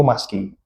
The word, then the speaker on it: Musky: saya ini yaitu Maguro Maski. Sekilas namanya ini unik tulisannya MU SKY dibacanya maski.